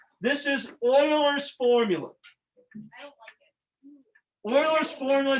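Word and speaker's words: Euler: was it looks like ooler but it's actually it's a German word it's pronounced Oiler like oil so Oiler was this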